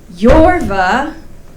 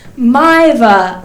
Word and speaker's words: Maeva: don't forget all right it's not yorva it's mine well done it's maiva like my vagina can you believe that